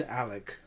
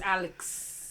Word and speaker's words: Alex: You got to pronounce it like they do, bro. It's Alec.